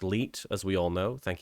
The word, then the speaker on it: 1337: TwitchTin1337, which is pronounced Leet, as we all know.